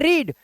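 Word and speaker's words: read: इसे पढ़ रहे हैं रीड बट इसको पता है क्या पढ़ेंगे ध्यान से सुनना सारे इसको पढ़ेंगे रेड जैसे लाल रंग को बोलते हैं रेड वैसे ही बोलते हैं इसको लेकिन स्पेलिंग सेम रहती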